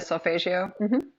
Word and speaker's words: solfeggio: And I'm just thinking of like, um, some of the tools like you mentioned, is it sulfeggio? Is that how you say it? solfeggio.